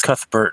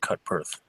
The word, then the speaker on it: Cuthbert: name I am yeah it's cuthbert not cut birth Oh weird name it's